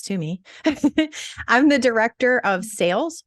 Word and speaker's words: Toomey: my name is Toomey for those that don't know how to pronounce to me I'm the director of